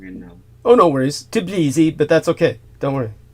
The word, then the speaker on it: Tbilisi: I'm always pronouncing it wrong. And Oh, no worries. Tbilisi, but that's okay.